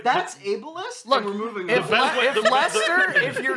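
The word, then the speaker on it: Leicester: He found the the snack that he liked, but he's just realized that Lester in red Lester is spelled L E I C E S T.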